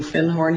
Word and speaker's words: Findhorn: And he corrected my pronunciation. He said, "You mean Findhorn?"